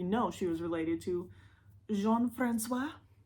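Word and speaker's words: Jean-François: she was related to jean-francois I believe that's how it's pronounced not Gene Francis I believe it's Jean Francois oh John Francois oh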